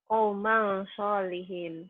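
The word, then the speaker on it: قَوْمًا صَالِحِينَ: Qauman sholihin. Kenapa ya jadi kaumang? Kauman jadi ang. Ada fathatain ketemu huruf shod.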